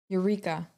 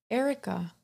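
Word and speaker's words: Erykah: is um erikai Badu I don't know how to say it irika Eureka is it Eureka that's what it looks like e-r-y-k-a-h Erica oh okay Erica Badu got it it is very weird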